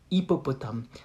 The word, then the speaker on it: hippopotame: That's why you can do the liaison between un hippopotame, un hippopotame, un hippopotame.